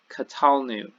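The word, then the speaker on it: קָטַלְנוּ: common plural here we this is qatal new qatal new so the center syllable gets that accent there and the new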